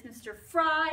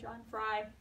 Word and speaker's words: Frey: By somebody I keep on calling Mr. Frey, but it's Mr. Fry, even though it's spelled Mr. Frey, whatever, John Frey, John Fry.